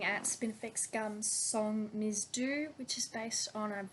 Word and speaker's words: Dhu: D-H-U, Do, that's what I believe.